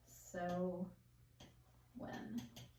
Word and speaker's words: Samhain: It's spelled S-A-M-H-A-I-N, but it says it's pronounced so when.